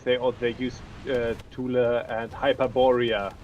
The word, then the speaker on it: Thule: I mean, my American accent. I'm not going to try to exactly get the right accent, but Thule Society. I mean, you speak English, you just Germany. pronounce it English.